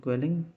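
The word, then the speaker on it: Quellung: All the capsule gives quelling reactions, which is swelling of capsule, quelling rhyming with swelling.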